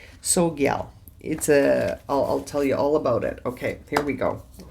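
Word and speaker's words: Tsogyal: You don't pronounce the T. Sogyal.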